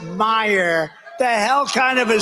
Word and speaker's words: Meijer: of the ten impeachers a guy who spells his name m e i j e r but they pronounce it meyer the hell kind of a spelling is that meyer meijer it's major but it's actually pronounced